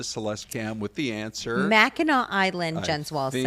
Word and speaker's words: Mackinac: Don't pronounce it Mackinac. No, it's Mackinac.